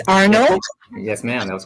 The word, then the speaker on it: Arneaud: can see wonderful I hope I got the pronunciation of your last correct right it's Arnold yes ma'am that was correct great great now